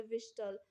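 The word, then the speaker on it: whistle: Next question है विच letters are silent in the word विस्टल, तो H and T, B option यहाँ पे right हो जाएगा।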